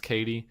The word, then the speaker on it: Cady: Is it just that her friend calls her Caddy, even though it's Katie? Is that the only reason it's spelled Cady?